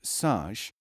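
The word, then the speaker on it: سج: SJ, pronounced saj, means to plaster or coat as with clay.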